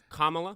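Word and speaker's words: Kamala: We're all fortunate Camel Harris didn't win. Can you pronounce her name correctly? Camel Harris. Kamla, an unimpressive who slept with Willie Willie Brown.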